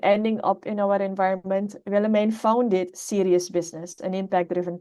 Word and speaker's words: Willemijn: So Willemijn, that's how we pronounce the name, Willemijn.